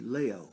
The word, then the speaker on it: Leo: Leo Santa Cruz and it's actually Leo and not Leo but you know I